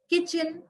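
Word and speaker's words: kitchen: silent talk L silent किचन T silent and honour H silent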